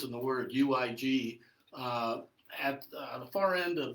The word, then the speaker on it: Uig: Well, yeah, it's funny because the first three letters in the word UIG at the far end of the Isle of Skye in Scotland is a little town called Uig. That's how it's pronounced.